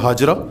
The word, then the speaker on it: ہاجر: تاریخی واقعہ جو ہوتا ہے, حضرت ابراہیم آئے جب لے کر اپنی زوجہ محترمہ جناب ہاجرہ, جن کو ہم اردو میں ہاجرہ کہتے ہیں بلکہ اس کا صحیح تلفظ ہاجر ہے, جناب ہاجرہ کو لے کر آئے.